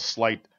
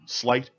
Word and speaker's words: Sleight: Sleight, check it out. And don't pronounce it Slate.